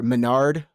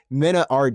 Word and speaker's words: MenaRD: and uh you know bit or Menard or I guess it's Mina Rd is actually how you say it from the Dominican Republic